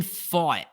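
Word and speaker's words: Pfaadt: their two best starters so Brandon fought I had to Google how to pronounce his name it's p-f-a-a-d-t would I would have thought it was something wildly different but he's a rookie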